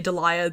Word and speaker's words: Deliah: And yes, I say Deliah, that is how it is pronounced, and I am aware